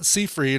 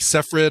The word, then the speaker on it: Seyfried: uh sephiroth i saw it's not seafried or seyfried as i've been pronouncing it my whole life or her whole life probably but it's uh but it's like separate or something like that anyway um she is